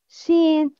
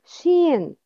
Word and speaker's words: ش: It's emitted from the middle of the tongue with the middle of the upper palate.